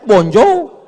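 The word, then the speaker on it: bonjour: Emangnya bahasa Perancis mudah tulisannya bonur bacanya bonjou. Bon soir, bonso jangan pelajari bahasa-bahasa orang kafir ini.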